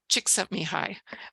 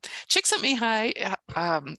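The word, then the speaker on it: Csikszentmihalyi: a c um and if you just say the words chick sent me hi you'll get it correct I had a a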